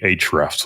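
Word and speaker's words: Ahrefs: Uh, the other one would be Hrefs, which is spelled ah R E Fs, and that is going to allow you to do backlink audits.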